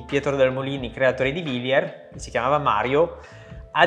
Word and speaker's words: Wilier: non suona italiano, e cerchiamo sempre di spiegare che si pronuncia Villiers Triestina. Infatti nel showroom abbiamo realizzato questa scritta per spiegare alle persone come si pronuncia, perché tante persone lo dicono all'inglese, alla francese, il nome vero è Villiers Triestina.